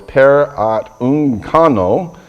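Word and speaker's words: παρατυγχάνοντας: The Greek word is P-A-R-A, para, and then T-U-G, tug, and then chano, C-H-A-N-O. It's paraunkono is how it's pronounced.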